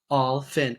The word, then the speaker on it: Allphin: All, just like all, All. And then Finn, as in Finn. like dolphin. Yeah, like Finn. dolphin. Like an Fin, but it's spelled PH.